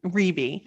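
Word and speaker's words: Rebbie: i know her for and it's rebbe jackson what did i be calling her ribby i kept calling her robbie and it's ribby gosh like my pronunciation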